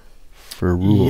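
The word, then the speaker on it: ferrule: you seen a ferule I think I'm pronouncing this right it's f e r r u l e for rule yes I can't think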